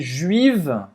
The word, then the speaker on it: juive: Mas você não vai pronunciar o E.